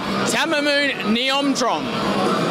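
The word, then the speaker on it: Thammanoon Niyomtrong: Tamamoon Niomtrom is how you pronounce it.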